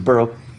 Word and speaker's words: borough: Did you know that's how that word's pronounced? Burg is borough. This road, like Edinburgh, this road leads to the borough and castle of Harfang, where dwell the gentle giants.